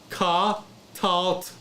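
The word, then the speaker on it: קָטַלְתְּ: So it's going to be like, it's going to be pronounced ka, talt, katalt. There's really hardly any sound at the end.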